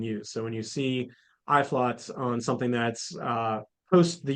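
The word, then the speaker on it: Uitvlugt: It's pronounced Iflot, which we enunciate on the back of the label there for you.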